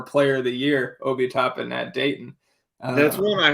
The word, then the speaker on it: Toppin: I say Obi Toppin. I have heard announcers pronounce it Tobin. I've Yeah. always thought it was Toppin too, but I've heard people say Obi Topin.